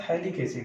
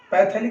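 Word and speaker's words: phthalic: ये आपका थैलिक एसिड है, पैथैलिक मत पड़ेगा, पी यहाँ पे साइलेंट होता है, ये थैलिक एसिड होता है।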